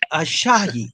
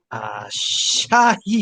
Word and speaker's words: Asahi: Ashahi. I think that's how you say it. Ashahi. It's Japanese Let me beer. see. Asahi.